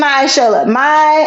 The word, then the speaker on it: Myishola: Yes, it's Myishola. Myishola. But where's the accent? On Shola? I would, yeah, I'd say on the show, Myishola.